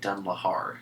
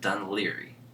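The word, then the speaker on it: Dún Laoghaire: ly uh on the map it looks like dun Lahar that's what it looks like on map but they pronounce it dun ly and uh so we went down there and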